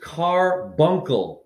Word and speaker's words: carbuncle: Your gemstone is carbuncle. C-A-R, like your automobile. Bunkle.